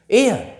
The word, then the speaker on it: heir: एयर, इसका pronunciation एयर होगा। आप यहां यह भी ध्यान कीजिए, इससे पहले एन आर्टिकल का यूज किया गया है। It means हियर एच is silent.